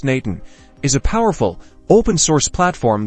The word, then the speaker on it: n8n: And Nate N, pronounced Nathan, is a powerful open-source